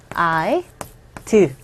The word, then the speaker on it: I'd: 일단 발음 보면은 I, do. 이거 우리식대로 쓰면은 이렇게 발음하시면 돼요. I'd. 이렇게 발음하시라고 그랬어요. 드 사운드가 거의 안 들리지만 어쨌건 원어민들은 발음을 하면서 I'd like to.